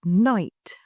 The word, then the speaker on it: night: For example, the word night originally had a pronounced K and a GH. Over time, these sounds disappeared, but the spelling stayed the same.